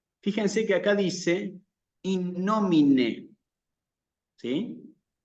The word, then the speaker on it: nomine: Fíjense que acá dice in nomine, ¿sí? En el latín es muy importante que se escuche con precisión, con claridad, el final de la palabra, especialmente que se escuche la E, ¿sí?